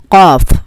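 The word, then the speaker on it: قاف: which is this letter, Kaf. It is produced on the back of the throat. Q. Q. It is like K, but it is a bit deeper sound.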